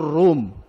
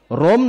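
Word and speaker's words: روم: পবিত্র কোরআনুল কারীম সূরাতুর রুম। কোন সূরা? রোম নামে পৃথিবীতে একটি দেশ আছে, জানেন? সে দেশের নামে একটি সূরা। আমরা যদিও বলি রোম, কিন্তু উচ্চারণটি আরবিতে রুম, সূরাতুর রুম।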